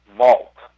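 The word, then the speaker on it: Walp: uh vivian vivian uh her last name is spelled w-a-l-p but because she is uh a south african native who worked for newsday her it was pronounced vault vivian vault and vivian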